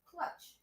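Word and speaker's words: klatch: Low Water said it's pronounced clutch. See, I was right. Okay, so it's not pronounced the way it looks.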